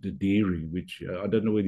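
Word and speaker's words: dadirri: Aboriginal uh language here there's a word called deiri which I don't know whether you've come across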